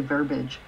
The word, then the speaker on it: verbiage: clearly one uses extra verbiage that close okay I don't pronounce that as three syllables I just say verbage but what about me